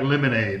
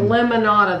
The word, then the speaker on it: lemonada: vanilla oh they were both like lemonade lemonada lemonada that's it it was strawberry lemonada and a vanilla cream L I guess lemonada is how you say um Jason's Deli I